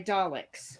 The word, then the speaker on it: Dalek: Don't you say mean things about my Daleks. Right. And thank you for pronouncing it correctly, Daisy.